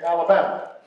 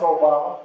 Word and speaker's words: Obama: Except people didn't always say it right. And they called me Alabama. Or they'd call me Yo Mama. And I'd have to explain how it's Obama.